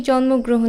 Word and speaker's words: জন্মগ্রহণ: করে উচ্চারণ করি না যেমন এই জন্মগ্রহণ শব্দটা দেখো ম এর সাথে একটা ওকার আছে আবার মাঝখানে একটা গ চলে এসেছে তো এই যে উচ্চারণ